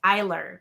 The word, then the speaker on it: Eiler: Melissa, there's one of the girls on the tribe, Melissa, and it's looked like two I's, E-R, but it was actually I-L-E-R, and it's pronounced Eiler, Melissa Eiler.